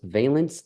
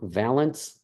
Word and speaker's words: valence: By the way, that is pronounced valence and not valence.